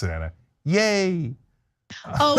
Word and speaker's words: Ye: I used to say ye like a loser because I didn't think about it, but it's just Kanye shortened to yay. Kanye shortened to yay.